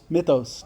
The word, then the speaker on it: Mythos: I don't want to mispronounce. Mythos.